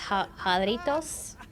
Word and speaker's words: Jarritos: I assume it's pronounced jarritos, or as Australians would say, Doritos.